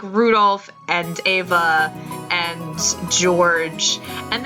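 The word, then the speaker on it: Rudolf: and good night anyway this guy's name is pronounced Rudolph ha he must hate grandfather for giving him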